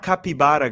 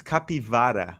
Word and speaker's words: capivara: younger yeah Loco cap it's not capibara guys it's capivara with a v v capara but in